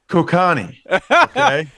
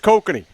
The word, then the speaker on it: Kokanee: four seasons for me did you have any Kokanee over the summer oh good yes Ross we've talked about this Rick it's prevent it's pronounced kokani Actually I don't even know is that what